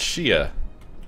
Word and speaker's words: Shia: Pretty sure it's Shia. Like, Shia Pet.